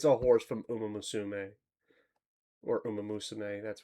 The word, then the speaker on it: Umamusume: It's a horse from Umamusume or Umeamus. That's how you pronounce it.